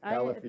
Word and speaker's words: Califia: Califia. Thank you for asking. The second, I know how to pronounce these ones.